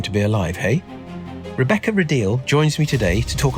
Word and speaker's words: Rideal: would please Rebecca sure I'm Rebecca ril thank you for pronouncing my surname correctly that's very kind I